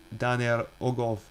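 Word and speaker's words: Dan yr Ogof: Dan he talks about Dan y ogof Welsh pronunciation Danel oov located at the national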